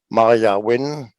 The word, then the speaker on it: Maiah Wynne: rock bottom radio show and yeah youtube channel maria win is it pronounced rightly yes okay from of the band